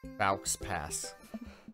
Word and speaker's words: faux pas: Like, is it a parenting faux pas or something? Baux pass is how you pronounce that.